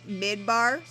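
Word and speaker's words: מדבר: english for desert is mid bar yeah so what's really cool is even at the bottom so desert is pronounced midbar i mean i don't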